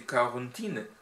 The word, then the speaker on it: Corentin: Il y a Corentin Larour a prononcé Corentine en en breton ou en français Corentin tout simplement.